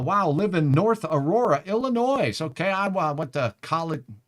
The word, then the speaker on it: Illinois: away but I know I'm not supposed to pronounce the s in Illinois but it's Illinoi um my apologies for